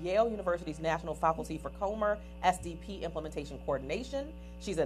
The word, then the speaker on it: Comer: She began her career in 1991 as a parent facilitator of the Comer, am I pronouncing that correctly?